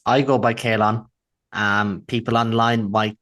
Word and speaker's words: Caolan: So fairly it's I go by Kalon.